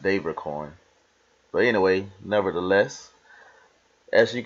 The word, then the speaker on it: DavorCoin: of the updates from David corn or Devorah corn or however you like to say it I'm used to saying Devore I think it's actually pronounced devar coin but anyway nevertheless as